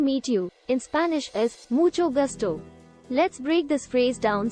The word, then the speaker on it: mucho gusto: correctly is also important the CH sound in mucho is pronounced like the CH in church and the g in